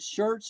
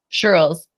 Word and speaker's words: Shirls: Is it Shirts Rocks? Shirls. Shirls. I see a Z on the end. That doesn't. Shirls, like girls, but Shirls.